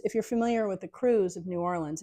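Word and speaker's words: krewe: because the cruise if you're familiar with the cruise of New Orleans it's spelled KR e we it's actually a pretend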